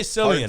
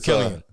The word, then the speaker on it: Cillian: Killian with I always say Cillian. I don't know why. I do too. Yeah. And then I remember, but it's Killian. It's an Irish hard C.